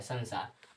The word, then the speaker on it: संसार: अब यहाँ पर जब संसार पढ़ रहे हैं तो इस बिंदु का उच्चारण कथी हो रहा है, आधा न हो रहा है, नहीं म नहीं न हो रहा है, संसार।